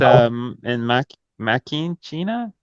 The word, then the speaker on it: Deus in Machina: They recently unveiled an experimental AI-powered confessional called Deus in Machina, I believe. Hopefully, I'm pronouncing that correct. It's a Feature Deus Machina. Oh, it's Deus in Machina. Okay. Uh, Machina. okay. Yeah. Well, I'll let you pronounce that part.